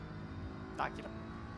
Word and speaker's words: Akira: Akira. I always have to remember that the accent is on the A, not on the I.